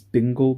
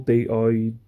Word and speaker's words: Digel: But the brand is Dingle, Digel. Not Dingle.